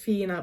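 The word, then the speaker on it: Whina: going to say it's it's pronounced Fina because that was what they called it in the movie but it's spelled wh i n a but it's based on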